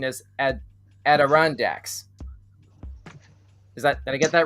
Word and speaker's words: Adirondacks: I'm getting a note passed to me by Control saying that the correct pronunciation is Adirondacks.